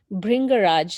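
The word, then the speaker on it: Bhringraj: can you repeat the name again and just spell it for people who may not be familiar with it so it's called bring garage so b h r i g bring so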